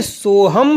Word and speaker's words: सोहम: विधियां दो हो गई पहली हो गई सोहम सोहम और दूसरी हो गई सोहं सोहं तो इसमें किसी प्रकार की शंका ना करें आपके गुरु के द्वारा जो भी आपको उपदेश दिया गया है या तो हम सोह दिया होगा सोह सोह सोह या दिया होगा सोहं सोहं सोहं उसी प्रकार आपको जप करना है दोनों ही सही है मगर गुरु मुख से